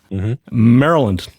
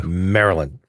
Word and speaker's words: Maryland: been pronouncing Maryland incorrectly for years it is pronounced thing I'm going to attempt this Pete ready Maryland damn that was good was that good yeah